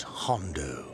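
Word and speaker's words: Jondo: In the bowels of the bell named Hondo that grows into the earth. The J is silent.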